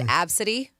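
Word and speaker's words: Abcde: says they knew somebody whose name was a b CDE e oh my God pronounced absity AB I've heard of that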